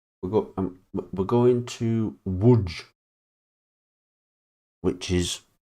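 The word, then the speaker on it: Łódź: We're go we're going to Woodge, which is spelled L O D Z. Lods, but it's pronounced wood.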